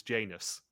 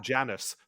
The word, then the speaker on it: Janus: But my favorite part of the Golden Eye remake was the fact that Dame Judy Dench as M could not pronounce Janus. She called him Janice throughout the entire game.